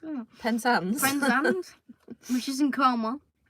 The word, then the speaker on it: Penzance: Because the longest train journey is from Aberdeen to Prinzan. That's how you pronounce it. Penzance.